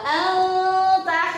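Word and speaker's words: أنت: Anta ya, jadi bacanya samar itu begitu ya. Anta, mulutnya membentuk huruf yang setelahnya nun sukun atau tanwinnya. Jadi anta, karena bertemu tak maka hurufnya membentuk, mulutnya membentuk huruf ta.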